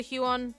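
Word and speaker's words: Huion: a hue on tablet it's how you pronounce it anyway each you IO n that's how I would pronounce it I've heard the glass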